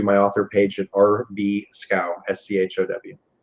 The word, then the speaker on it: Schow: Also, you can go to my author page at RB Schow, SCHOW. Looks kind of funny, but it rhymes with cow.